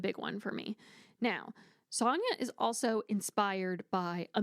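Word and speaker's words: Sanya: And then our male main character, his name is Sonia, spelled S A N Y A.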